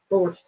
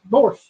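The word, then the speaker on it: borscht: S C H T Borch T on N. Yeah. B O R S but Well, it's the T is silent. It's it's called borch. Borch.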